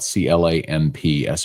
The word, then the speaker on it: Clemson: Halfway home on the week, getting closer to LSU and Clemson. I didn't know this, but South Carolina people call them Clemson. Like they spell it Clampson.